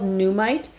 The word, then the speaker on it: Nuummite: Again, this is called Numite, and Numite is spelled Nuummite.